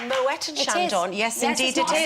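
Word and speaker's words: Moët & Chandon: crunching up exactly and it's actually not called Mo and Shandon it's called Moet and Shandon yes indeed it is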